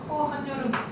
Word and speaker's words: 한여름: 한여름. 니은 첨가네, 그치?